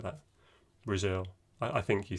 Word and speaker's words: Brazil: i think you said brazel did you say brazil brazel something like that okay so actually we're wanting to stress the second syllable and so it will sound like brazil can you say that